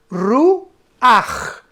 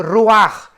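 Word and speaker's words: רוח: la palabra hebrea ruach, como suena con R de Raúl y CH al final. Pero la CH en el hebreo se pronuncia como una J. Entonces podríamos decir que se pronuncia ruach, con la J, guturalmente ruach.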